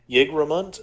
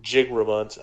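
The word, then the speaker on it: Jigramunt: Yggdramunt or Jigramont. I pronounced it the Norse way.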